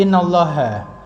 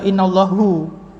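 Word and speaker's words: إنَّ اللهَ: Tapi kalau kemasukan inna, nah kan menjadi innallaha. Nggak boleh kita baca innallahu.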